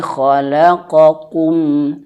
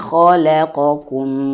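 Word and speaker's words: خلقكم: Maka hati-hati sekali di sini jangan sampai lamnya terbawa tebal. Jangan bacanya alladzi khalaqokum. Khalaqokum. Ah jangan ya. Tapi ko la. Ketika la mulutnya coba agak ditarik ya.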